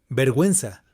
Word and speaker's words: vergüenza: মানে কোনো vowel combination থাকা সত্ত্বেও ইউ এর প্রোনাউন্সিয়েশনটা কিন্তু হবে। তো সেটা আপনার মনোযোগ দিয়ে শুনুন, বুঝতে পারবেন। cigüeña, antigüedad, pingüino, vergüenza, lingüística, cigüeña, antigüedad, guitarra, guerra, pero pingüino, vergüenza, guitarra, guerra, pero pingüino, vergüenza.